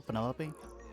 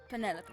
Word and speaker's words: Penelope: Is that short for Penelope? Officially, yes, but I never can be bothered with all 4 syllables of it. Penelope sounds a little ostentatious coming out of the mouth, don't you think?